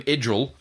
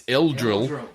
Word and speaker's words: Eldril: Now, don't call him Edril. It's Eldril. Gotta get it right.